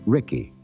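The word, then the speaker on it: Ricci: Gail and younger brother Richi pronounced Ricky.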